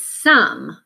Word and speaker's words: some: but this word is some so the pronunciation does not have a long Oh sound it actually has the short u sounds so this is an